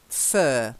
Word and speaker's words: fur: good and then yeah fur yeah no need to roll the are honestly we don't bother fur no just for then